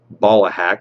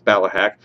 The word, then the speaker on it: Ballahack: a great field uh Tim calls it uh ballahack which is not correctly pronounced but it's ballahack great field all around they've